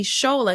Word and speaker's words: Tsola: We're gonna see Shola because we did not see her because she was a quick clip in the blinds.